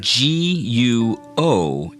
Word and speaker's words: 国: Okay, now let's practice saying G-U-O in the second tone, which is pronounced guo.